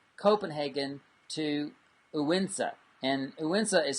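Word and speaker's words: Odense: a drive from Copenhagen to uwin set and uenza is spelled o-d-e-n-s-e so it looks like oh dance but it's pronounced goinza um uinsa so uh anyway the the bottom line is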